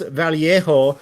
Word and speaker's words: Vallejo: using a bunch of paints I was using Vallejo and someone dared to come into my stream and said excuse me it's pronounced valo cuz they're in Spain and then it's like